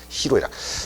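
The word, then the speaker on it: 희로애락: 자, 이때는 노가 아니라 로입니다. 네, 표기든 발음이든 히, 로, 에락이라고 쓰고 읽어야 합니다. 그러니까 분노할 때는 성넬로입니다만은 이때는 히로이락.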